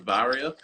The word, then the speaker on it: Varia: Well, I pronounce it Varia, but it depends on, I guess, where people are from. They tend to pronounce it.